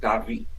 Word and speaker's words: Davi: My name is pronounced Davi. Dahve is a kind of easier way to remember it.